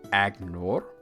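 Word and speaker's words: Aegnor: um similarly a e g n o r agnor and n a g l i n is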